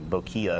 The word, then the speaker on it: bokeh: the subject explain that in America we pronounce it bokeh I think it's actually bokya it's a Japanese term which means the face